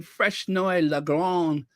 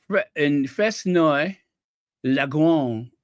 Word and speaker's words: Fresnoy-le-Grand: The first La Crusade foundry opened in 1925 in Fresnoy-le-Grand, France. It's La Grande. The D is silent. In Fresnoy-le-Grand, France.